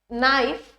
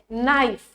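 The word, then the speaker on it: knife: end hand kitten kettle नाइफ kingdom fourth है matte map man mango यामध्ये नाइफ नाइफ जो आहे ज्यामध्ये के हा साइलेंट वर्ड है त्यामुळे ऑप्शन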